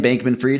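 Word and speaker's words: Bankman-Fried: But anyway, point is when I look at what happened to uh Sam Bankman Freiedman or Sam Bankman Freed, is that how you say it?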